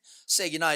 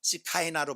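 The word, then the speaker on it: שכינה: 우리는 세기나 이렇게 그 글자를 그대로 발음해서 그런데 원래 이거 세기나로 발음하면 안 되면요 안 되고요 시카이나로 발음해야 돼요.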